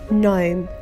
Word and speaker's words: gnome: the monster began to gnash his teeth Nash gnome I have three garden gnomes gnome I should